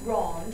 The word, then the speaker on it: grande: you added that E, but it does change the pronunciation if you add that E and the word originally ends in a consonant, like grand becoming grande and fort becoming fort.